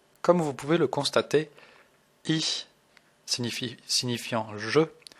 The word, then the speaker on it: ich: nous intéresser à i alors pour le prononcer il faut faire un grand sourire et faire che comme en français alors écoutez bien i